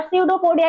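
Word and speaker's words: Pseudopodia: start होती है और सडोफोडिया की स्पेलिंग भी सी से नहीं पी से स्टार्ट होती है बायोलॉजिकल लैंग्वेज में बहुत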